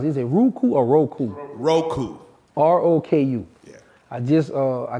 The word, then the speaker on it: Roku: How you pronounce it? Is it Roku or Roku? Roku.